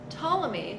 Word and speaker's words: Ptolemy: they were finding so ptolemy claudius ptolemy our gentleman p is silent so ptolemy um had